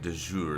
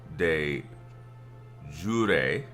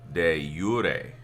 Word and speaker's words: de jure: You don't say it de jour. It's not like soup de jour, which is what I was, you know, kind of basing it on.